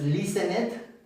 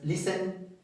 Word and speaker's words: listened: Aquí no es listenet, de hecho la t es silenciosa. No, no es listened.